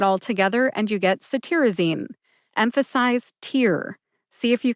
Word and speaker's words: cetirizine: name first we've got saine saine has four syllables s like citrus tear like crying a